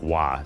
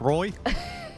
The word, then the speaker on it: Roy: Have we been doing it wrong this whole time? No, it's Patrick Wah. So, it's not Patrick Roy.